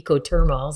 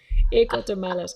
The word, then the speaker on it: Ecotermales: I say ecothermals. That's English, but it doesn't sound right. Ecotermales. Yeah, you got it.